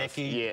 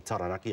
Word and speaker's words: Taranaki: I mean, really like from like the Naki, or if you visit the Naki, or I mean Taranaki, I should say, pronounce it properly.